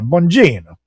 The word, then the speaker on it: Bongino: Meanwhile, former conservative firebrand and FBI official Dan Bongino, or Bongino, I always forgot how to pronounce his Bongino. name. Yeah, Bongino.